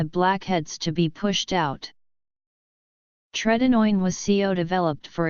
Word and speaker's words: tretinoin: Tretinoin was developed for its use in acne by